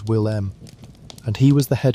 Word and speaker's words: Willem: His name was Willem, which you may say as Will-M, and he was the